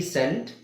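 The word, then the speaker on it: scent: ಒಂದೇ ಉಚ್ಚಾರಣೆ ಇದೆ ಎಸ್ ಎನ್ಟಿ ಎಸ್ಸಿಇಎ್ಟಿ ಸೆಂಟ್ ಎಸ್ ಎನ್ಟಿ ಸೆಂಟ್ ಸಿಇಎನ್ಟಿ ಸೆಂಟ್ ಈ ಮೂರು ಪದಗಳು ಬೇರೆ ಬೇರೆ ಅರ್ಥ ಬೇರೆ ಬೇರೆ ಸ್ಪೆಲ್ಲಿಂಗ್ ಇದೆ ಉಚ್ಚಾರಣೆ ಒಂದೇನೆ.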